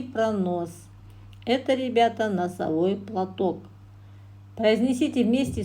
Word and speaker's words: носовой: Это, ребята, носовой платок. Произнесите вместе с учителем отгадку на русском и казахском языках, выделяя ударные гласные звуки. Носовой, ударение падает на О, платок, ударение падает на О.